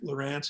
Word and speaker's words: Luranc: Lurance, it's just a soft C. It's the same pronunciation. Just pretend there's an E on the end.